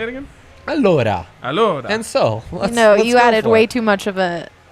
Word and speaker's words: allora: Allora.